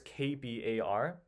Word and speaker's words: KBAR: It's the letters KB A R. And it's like a kilobar or something, but I think it's also acceptable to say it as Kbar. And of course, it's not actually pronounced like Kabar, but um somehow got